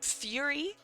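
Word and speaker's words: Furi: Um, Fury. If uh if you guys have ever heard of Fury, it's it's spelled Fur Ri.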